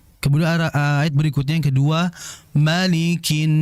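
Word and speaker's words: مَلِكِ: ayat berikutnya yang kedua, malikinas Yang terjadi kesalahan adalah jangan membaca molikin. Molikin mo bukan mo melainkan ma. Ingat setiap huruf tipis yang berharakat fathah maka vokalnya adalah a ma malikinas.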